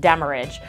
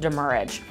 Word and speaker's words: demurrage: It does look like demurrage, but it's really pronounced demurrage.